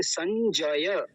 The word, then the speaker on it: संजय: बोलते हैं संजय संजय यानी ज को आधा कर देते हैं संजय संजय नहीं संजय जय ज को पूरा रखना है फिर से समझिए ध्यान